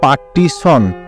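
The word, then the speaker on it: partition: মোটা সে একটা নিয়ম আছে, ছয়ের পর যদি দন্তন্য থাকে তাহলে আই ও হয় এবং টি এর জন্য টি আই ও বসে এবং শেষে এন বসার পর উচ্চারণ সন হয়, যেমন পার্টিশন, পি এ আর টি আই টি আই ও এন উচ্চারণ হবে পার্টিশন।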